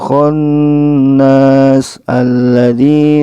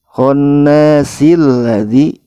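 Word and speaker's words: الْخَنَّاسِ الَّذِي: Jika ingin menyambungkan ayat keempat dan kelima, maka si-nya ini kita baca, kemudian kata alladzi di sini a-nya kita sukunkan atau kita matikan. Jadi cara membacanya min syarril waswasil khannasil ladzi. Ini jadi khannasil ladzi, bukan khannas alladzi. Jadi harus disukunkan atau dimatikan, alifnya tidak dibaca.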